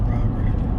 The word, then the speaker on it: Rio Grande: will tell you that Rio Grande is spelled Rio Grande, but here we call it Rio Grande.